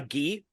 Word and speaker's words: gi: called he has no idea a g a ghee yeah that's that's the uniform is it right but is that how you say it g g g g oh ghee okay so he has no idea how to